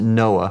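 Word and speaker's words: NOAA: I was with the National Oceanic and Atmospheric Administration we pronounce it Noah we had a program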